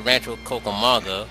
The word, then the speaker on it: Rancho Cucamonga: And we're going to freaking, I believe we're going to the Rancho Cucamonga, whatever how it's pronounced.